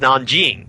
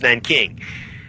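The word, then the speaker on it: Nanjing: the Nan King Massacre the Americans pronounced Nan Jing as Nan King the Nan King Massacre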